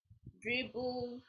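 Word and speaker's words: Dribbble: So there are sites like Dribble. Dribble is spelled DRI triple BLE.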